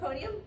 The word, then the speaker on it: meconium: all the way to the M's, and I looked up, what's that, how do you pronounce The that? meconium?